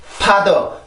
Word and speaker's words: father: 그래서 아버지라는 단어를 발음할 때 father, father, father 이렇게 하는 분들이 있는데 그런 분들한테 요게 효과가 되죠.